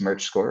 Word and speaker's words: Merchscore: is uh it's pronounced merge score right just like merchandising and i'm going to